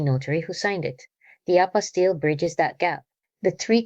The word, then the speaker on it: apostille: Because apastil is one of those words that sounds complicated, but becomes very simple once you understand what it actually is, an apastil. And the pronunciation is apastil is a certificate issued